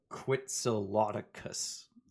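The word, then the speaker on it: Quetzalcoatlus: big bandit flies fast it's a quitsiloticus actually loki that's how you say it shut up this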